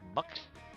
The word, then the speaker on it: Mx: honorific, whatever you want to call it, and it sounds a little bit more like mux, Mux. almost like a U in a way, like just mux.